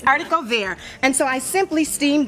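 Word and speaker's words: haricot: them in the grocery store and they they pronounce it Harry court it's not harod be but that's how most of us pronounced it it's artico and so I simply steamed those squeezed some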